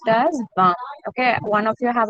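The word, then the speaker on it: vingt: Van. Don't pronounce N completely.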